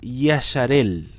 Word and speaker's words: Israel: te vas a llamar Israel. Que en otras traducciones, con las mismas letras de la palabra Israel, tiene otra pronunciación. También yo puedo decir Yasharel.